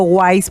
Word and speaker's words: Wais: fondo nuestra querida Irene Wi nuestra amada profe es Irene B pero en su Instagram les digo wise porque se escribe con w sí @ Irene wise WS